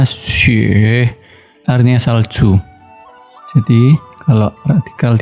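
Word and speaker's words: 雪: atas Hai kalau kita tambahkan bentuk seperti ini bacanya Sheikh artinya salju Jadi kalau tinggal di atas ini agak miring kemudian tema akan aksara di bawahnya jadinya xie artinya salju ya Atau punya dengan hujan ya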